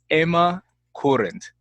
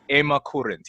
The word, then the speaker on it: Ema Kurent: joining me all the way from Slovenia is Emma current Emma thank you so much for being here